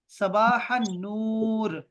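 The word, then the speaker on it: صباح النور: तो आपने सबाह अल खैर कहना है, और जवाब वाला कहेगा सबाह नूर। तो ये लाम साइलेंट है।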